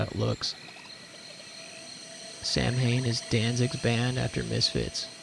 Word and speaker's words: Samhain: Pronounce it like you pronounce the band of the same name. It's Samhain.